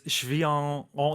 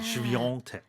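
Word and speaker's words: Świątek: And it's Swiatek. There's a that French pronunciation, Yeah. Swiatek. Yeah, in the middle. Although there's no N or G or anything in her name.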